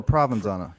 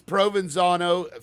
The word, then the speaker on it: Provenzano: Provenzano or Provenzano? It is Provenzano. Forgive me, I am used to saying Provenzano, but Provenzano is the correct pronunciation.